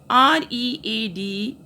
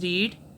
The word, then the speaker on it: read: R-E-A-D, the spellings will be same, but the pronunciation of this word will be changed. First form is read, spellings are same, but second form is called read.